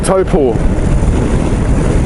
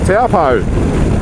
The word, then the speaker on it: Taupo: Moto, who is from Taupo, or as a lot of lazy people pronounce it, Taupo, in Taupo, in the Central Plateau.